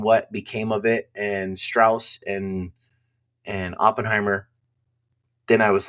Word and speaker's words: Strauss: And it's pronounced Strauss.